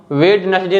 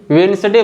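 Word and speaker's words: Wednesday: कोई वर्ड नहीं है इसको हम वेडनेसडे नहीं वेनसडे बोलेंगे क्योंकि इसमें जो लेटर डी है यह साइलेंट है यानी यह कोई आवाज नहीं बना रहा है और ऐसा कहा जाता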